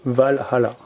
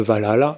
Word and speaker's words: Valhalla: Et donc dans ce fameux royaume d'Asgard, nous avons le Valhalla, connu sous le nom de Valhalla, mais en fait il faut plutôt le prononcer Valhall.